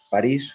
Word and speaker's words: París: Un par de correcciones, Mario, es París con acento en la I y no es Sider, sino Sider, Sistemas y Desarrollo de Energías Renovables.